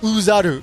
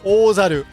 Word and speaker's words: Ōzaru: And pay attention, it's not pronounced Uzaru, it's Ozaru.